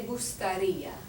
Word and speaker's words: gustaría: And because the I in gustaría has an accent over it, that's where we place most of the emphasis on that particular syllable. Repitan, me gustaría.